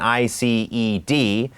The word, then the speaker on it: iced: iced ก็ จะ เป็น i c e d แต่ ว่า D ตรง นี้ นะ ครับ อ่าน เป็น T iced would you like